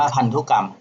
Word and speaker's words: พันธุกรรม: เขา เรียก ว่า พันธุกรรม อัน นี้ อ่าน ว่า พันธุกรรม ทำ รู้ กรรม คือ อะไร